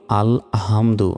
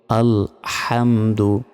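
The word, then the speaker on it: الحمد: আলহামদু আমরা অনেকে বলি আলহামদু। এটা ভুল। কি বলতে হবে? আলহামদু। হামদু। এখানে বড় হার উচ্চারণ করতে হবে।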